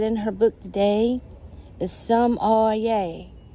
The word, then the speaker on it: sommelier: her book today is some oh yay the r is silent that's what she is is a sum lake yay some all yay somalia but anyway she